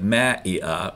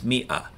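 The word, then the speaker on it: مئة: It's not spelled phonetically. Most words in Arabic are spelled phonetically, but this one isn't. So it looks like ma'i'a or something like that, but it's not. It's mi'a.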